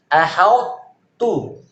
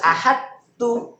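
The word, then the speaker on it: أَحَطتُّ: Gimana bacanya? Ahautu, ahautu. Huruf to masuk ke huruf ta. Ahautu, tapi masih menyisakan sifat tebal dari huruf to, sifat ibabnya. Ahautu, bukan gini, bukan ahadtu. Ta tipis tebal. Tipis. Kalau dibacanya gini, ahadtu, salah, hilang ininya.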